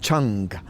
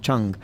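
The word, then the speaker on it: 誠: pronouncing it wrong, but it's like Cheng, and it's spelt in English Cheng, but I understand it's pronounced Cheng, and basically it means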